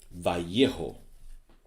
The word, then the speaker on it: Vallejo: Vallejo. Two L's pronounced like a Y. That's for you Anglos.